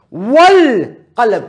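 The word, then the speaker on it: والقلم: Wal-qalam. Can you see me saying wal, going straight to the lam and not pronouncing the hamza?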